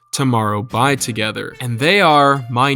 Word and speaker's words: TOMORROW X TOGETHER: TXT stands for Tomorrow X Together, which is officially pronounced Tomorrow By Together, and they are my #1 alt group, which basically just means my all-time favorite K-pop group.